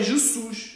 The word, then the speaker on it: Jesus: lá olha lá o o fonema Jesus não é Jesus em português diz é Jesus tem um som de z Mas eles pegam na